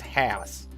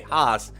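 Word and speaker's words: Haas: every day all cejas but it apparently it is house so that's I'm gonna do my best to try and pronounce it as hats but I keep hearing people say Hoss so you know it's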